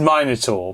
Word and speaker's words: Minotaur: It is Minotaur. But how can't you say Minotaur as well?